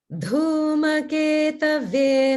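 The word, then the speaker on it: Dhumaketave: Om Dhumeketave Namaha. Om Dhumeketave Namaha. Om Dhumeketave Namaha. Good. And everyone can notice the Maha prana dhu in dhuma, dhuma.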